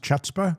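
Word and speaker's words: chutzpah: Got to give them uh you got to give them hutzah points, don't you think? Okay. Isn't it pronounced chutza? I think so.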